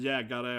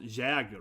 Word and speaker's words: Jägare: Like Titan, Eren, Jägare, and so on. Yeah. That's how it's pronounced, It's not Jäger, right?